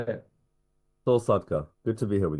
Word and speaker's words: Sadka: Saul Sadka, good to be here with you Saul today.